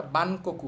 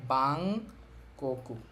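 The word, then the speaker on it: バンコク: এর উচ্চারণ অং হয় এখানেও কিন্তু ন এর উচ্চারণটা অং হবে এটা বানকু না হয়ে এটার উচ্চারণ বাংকু বাংকু অর্থ হচ্ছে ব্যাংকক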